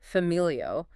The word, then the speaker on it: familio: So if we take the word for family, familio, the stress is on the second to last vowel, which is the family.